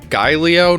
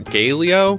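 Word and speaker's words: Gaelio: in from Ice level it's Gallo not Galeo Gallo figures at the one time that I use the American pronunciation of AE which is a instead of the correct Latin pronunciation of AE which is I I get it wrong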